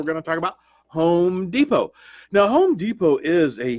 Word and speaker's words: Depot: work well what did you put in Home Depot how did you spell it hom e do P o or and